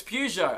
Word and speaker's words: Peugeot: Guys, it's Peugeot.